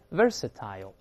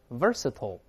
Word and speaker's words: versatile: 我们大声读一下 versatile，有人读成 versatile， I-L-E 发 I 发 O 都行，各个方